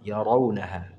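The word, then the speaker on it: يرونها: oke nah sekali lagi rnya jangan dibaca ra ya bukan ra Rau ya Rau ya raau yaraunaha kemudian asiyatan asiyah Kalau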